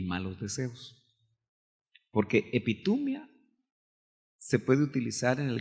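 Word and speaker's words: ἐπιθυμία: Pero es epitumia. Claro, no se pronuncia exactamente así, pero así es como la transliteramos.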